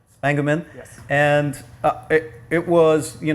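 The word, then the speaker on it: Spengemann: How do you pronounce his last name? Spangeman.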